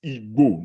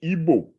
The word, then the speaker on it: Igbo: In general, Yoruba and Igbo have, by the way, the word that is Igbo, not Igbo. Igbo is the evidence that the Europeans could not pronounce the GB sound.